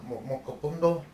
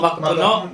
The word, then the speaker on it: macapuno: Mocopundo? Macapuno? Macapuno.